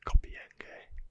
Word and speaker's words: Compiègne: The French surrender was ratified in the armistice agreement signed at Compiègne, I believe it's pronounced, again, strange word, Compiègne, on the 22nd of June.